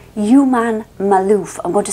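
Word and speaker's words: Juman Malouf: And anyway, he has a long-term partner called Human Malouf. I'm going to spell it for you. J-U-M-A-N, like human, but with J.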